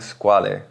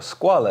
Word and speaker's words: Squale: would in Italian however the E is actually meant to be silent if you pronounce it in French the brand itself has